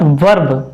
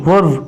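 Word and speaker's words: verb: इस उसके बाद वर्ब, इट्स नॉट वर्ब, वर्ब नहीं वर्ब बोलते हैं, आर साइलेंट है।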